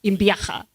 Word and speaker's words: Imbiaha: I must tell you, Kano told me to pronounce his name well because I was calling it differently. So now I have practiced in the last 40 minutes. Imbiaha.